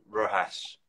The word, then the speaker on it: Rojas: I nearly said it the other way, but I would explain that the J is an H. Is that right? Is that how you would pronounce it? So it's a Rojas. It's a J, but you pronounce it like an H, I Brilliant. guess, phonetically. Rojas.